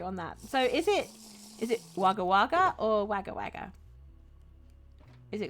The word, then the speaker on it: Wagga Wagga: It's Wagga Wagga.